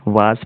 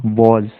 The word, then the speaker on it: was: देखिए was, कई लोग was पढ़ते हैं जो कि गलत है, इसका सही प्रोनाउंसिएशन है was, was।